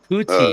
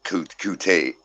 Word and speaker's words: Kute: Kuti, you were close, Ollie, and you could be right, but the general pronunciation has been Kute.